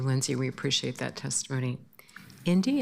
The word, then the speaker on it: Indy: Indy, am I pronouncing that right? Yes, you are.